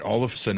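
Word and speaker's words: Asplund: olives allison oh wow how do you get all of sun out of that wow that's how it's pronounced a-s-p-l-u-n-d wow i need to get on my nhl in my media and listen to that one all of a sudden 99 minutes um no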